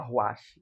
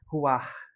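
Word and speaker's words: רוח: Aqui em São Luís tem essa, uma livraria chamada Ruash e a gente fala Ruash, mas a palavra mais pronúncia mais próxima seria ruar, esse ar aspirado, né?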